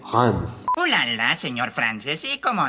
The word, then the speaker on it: Reims: En español diría Reyes, pero si decís Rims nadie te va a entender. La pronunciación entiendo que es Hans.